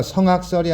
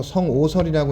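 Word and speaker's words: 性惡說: 이 악자가 악으로 읽기도 하지만 오로 읽기도 해. 오. 어떤 사람들은 이거 성악설이 아니고 성오설이라고 읽어야 된다고 주장하는 사람도 있어.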